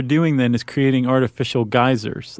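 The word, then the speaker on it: Geysir: in in origin but that would be g-e-y-s-i-r yes geyser okay that's how I pronounce it in Icelandic sure I wonder how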